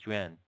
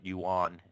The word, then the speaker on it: yuan: so it's a Chinese yuan. It's pronounced yuan, not yuan.